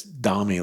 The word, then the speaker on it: Domi: So wait, somebody told me that it's Domi, like rhymed with mommy. Domi? Not Domi, that rhymes with foamy.